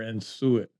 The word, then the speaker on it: en-suite: En-suite or en-suite?